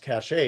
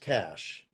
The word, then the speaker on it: cache: c h e and it's not pronounced cash a it's pronounced cash and do you know